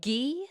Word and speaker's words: Guy: about Matt's age and his name is G it's spelled like guy but it's pronounced GE anyone who knows French